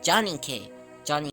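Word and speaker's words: ジャニ系: Since we're exchanging words, Johnny K. So like the name Johnny, and then K for style.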